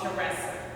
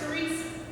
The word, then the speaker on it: Teresa: Well, I know they're not calling for me when they call me Teresa, because my name is spelled Teresa, but it's pronounced Teresa.